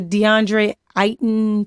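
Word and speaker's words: DeAndre Ayton: I think it was a Trey young and DeAndre iton Phoenix Suns that's how you pronounce his name yeah the wards are boring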